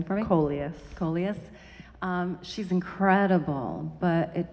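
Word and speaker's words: Collias: Can you pronounce her last name for me? Coleus.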